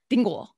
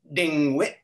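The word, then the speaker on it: DIngwI': way to say dreidel in Klingon is dingul. I didn't say it right, huh? I didn't say it right. What is it? How to say it for us. It's dingwit. Dingwit.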